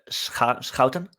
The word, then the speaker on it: Schouten: In Dutch you say Schouten, and that's really hard to pronounce. That's a bit difficult, because there is no R on it either. So why are you... Yeah. There's a hard G. You have SCH and the CH, that's the hard G. Basically, you try to spit and that's the sound.